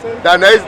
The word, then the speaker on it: Dainese: I think it's Dainese.